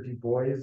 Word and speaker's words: Du Bois: That's the correct pronunciation. Sometimes you hear Du Bois, but I think he's on record saying that it's pronounced.